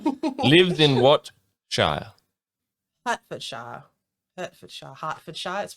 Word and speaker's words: Hertfordshire: Hertfordshire. Hertfordshire. It's spelled H-E-R-T, but it's Correct.